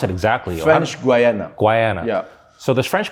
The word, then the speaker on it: French Guiana: How do you pronounce it exactly? French Guiana.